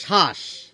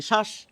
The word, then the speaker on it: শ্বাস: যেমন দেখুন আমরা বলি শ্বাস এখানে ব ফলা কোথায় রয়েছে শব্দের শুরুতে রয়েছে আমরা এই বটিকে বাদ দিয়ে উচ্চারণ করি আমরা বলি শ্বাস কিন্তু এর আগে যদি